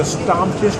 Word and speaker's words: Stammtisch: me this beer, and I am having the Stammtisch. Tell me if I'm pronouncing that right, Kai.